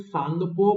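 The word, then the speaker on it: Tsangpo: है और यहां पे सांगपो बोलते हैं टी साइलेंट है यहां पर तो प्रशांत को मत बोल देना सांगपो है ये टी यहां पे साइलेंट है ये उसे तरीके से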